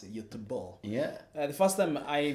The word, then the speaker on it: Göteborg: I think for Göteborg, is how they pronounce it, Göteborg.